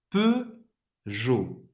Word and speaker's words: Peugeot: E o em francês, mais uma vez, som fechado do E, faz a boca do O e fala E. Peugeot. Você vai pronunciar, não vai pronunciar o T, e você vai pronunciar nem o E também.